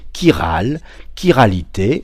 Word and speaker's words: chiralité: Alors, on prononce chi cette fois qui opère avec ses mains et bien sûr le mot qui nous intéresse aujourd'hui ou les mots qui nous intéressent aujourd'hui Kiralité au pluriel Kiro.